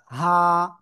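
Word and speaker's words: هاء: হা এই গলা থেকে জাস্ট গলার কি? শুরু থেকে গলার শুরু কোন জায়গায় এখানে তাই না এখানে হা এখানে হা গলার শুরু থেকে এটা উচ্চারণ হবে এক আলিফ টান হবে কয় আলিফ এক আলিফ হা ওকে এই হাটা শব্দের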